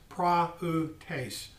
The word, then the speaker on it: prautes: for me excuse me for meekness is uh prautes and it's spelled p r a u t e s p r a u t e s pronounced pra utase now i'm going to read this and what